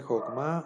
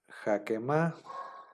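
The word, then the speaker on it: חכמה: nosotros a lo mejor podríamos decir, bueno, dice Jokma o dice Jakema. Nosotros, como nos enseñaron que la mayoría de las veces se pronuncia como A, pues a lo mejor caeríamos en la tentación de decir Jakema, ¿no?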